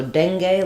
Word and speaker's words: dengue: So dengue, like dengue fever, dengue. This is a sound, like in red, and dangle has the sound, like in black.